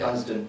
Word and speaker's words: Dunsdon: We've got Dunsdon here. That's how I pronounce your name, right? That's how you pronounce it, yeah. Dunsdon.